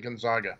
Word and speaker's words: Gonzaga: going West is it do you pronounce it contact or Gonzaga I don't know Jake let's go with Jason Jason now yeah I pronounce it Gonzaga Gonzaga okay all right Wow